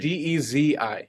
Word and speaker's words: Desi: Dezi. There you go. Yeah, ChatGPT will spell it Desi, and that is not the one.